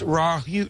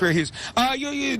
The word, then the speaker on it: Rare Hughes: That's pronounced Raw Hughes. No, I'm just kidding. Rare Hughes. It's Rare Hughes.